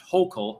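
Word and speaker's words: Hochul: out of the incumbent kathy hoscial uh pronounced hocal oh she's a piece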